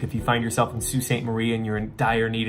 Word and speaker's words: Sault Ste Marie: Yes, that is how that's pronounced. Not to be confused with the Sault Ste Marie in Michigan.